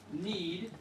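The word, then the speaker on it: knead: this yeah in fact it's pronounced just like need but it's yeah spelled with a K to need the dough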